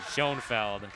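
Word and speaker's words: Schoenveld: Schoenfeld. Spelled with a V, so a little confusing.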